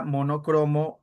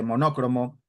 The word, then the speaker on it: monocromo: Recuerda que la palabra monocromo urea, no lleva tilde. No son palabras que a veces como la gente pronuncia mal porque mucha gente dice monócromo, ia, entonces lo lo ponen en los exámenes.